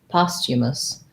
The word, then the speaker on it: posthumous: posthumous um so this is an ah vowel posthumous and then i think the the th posthumous